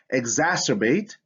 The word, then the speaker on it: exacerbate: right what about this exacerbate syncelli condolences in words derived from latin c makes the s sound when placed before e okay so i have